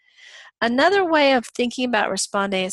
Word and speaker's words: respondeat: You don't need to know how to pronounce it, but that's how you pronounce it, responde et.